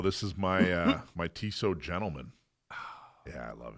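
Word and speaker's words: Tissot: tiso T so so it's t-i-s-s-o-t but it's pronounced tiso okay we ought to do a watch show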